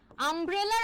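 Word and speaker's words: umbrella: আরেকটা ওয়ার্ড দেখেন আমব্রেলা, আমব্রেলার আগে কিন্তু এন বসবে, কারণ আমব্রেলার প্রোনাউন্সিয়েশনটা আ দিয়ে স্টার্ট হচ্ছে, which is a vowel sounding word, তাই না?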